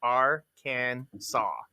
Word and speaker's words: Arkansas: to say it wrong with a hard s at the end of the state's name which would be your